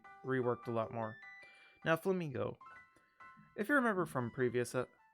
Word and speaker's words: Flamigo: Now, Flamigo. If you remember from previous my playthrough, you would constantly hear me just call it Flamingo because I did not know how to pronounce its name because it looks like a straight up flamingo.